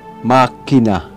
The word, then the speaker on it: machina: Ito ay palaging binibigkas na tulad ng K, even before E or I. Halimbawa, cham. Ito ay magiging cam. Machina. Ito ay makina.